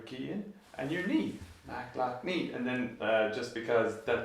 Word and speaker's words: McLoughney: So like the way I broke it down was Mac, lock, knee. A Mac, like an Apple computer, a lock that you turn your key in, and your knee.